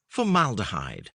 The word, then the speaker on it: formaldehyde: And the pronunciation is? Formaldehyde.